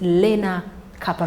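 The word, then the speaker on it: Lenacapavir: Your pronunciation or you missed some letters. It's Lena Capav.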